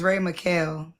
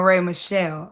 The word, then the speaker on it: Ray Michelle: It's Ray Muel. Is that right? Michelle. Michelle. Oh, Ray Michelle. Okay.